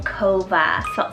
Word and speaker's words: Kova: a great cove alternative i love the name kova c-o-v-a or with a k this is beautiful